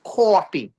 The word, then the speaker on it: coffee: All right, and I say in Brooklyn we say coffee. It's like two syllables. Core, CAW, fee, like you're paying a fee. Coffee. All right.